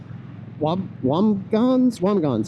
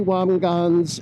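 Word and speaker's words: Wambsganss: And so second place was a Republican named Lee Wamgans, I think is how you pronounce it.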